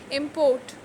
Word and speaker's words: import: that is ex import we import a large number of cars from the japan here it is work so stress is on the last syllable that is p-o-r-t china must produce more food to reduce its imports here it is used as a noun so import in this case the stress is on the first one i am import contract